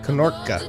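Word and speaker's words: knorke: Hard K and pronounced N and E. Knorka? Also the E is pronounced just like the A in hat. Knorka.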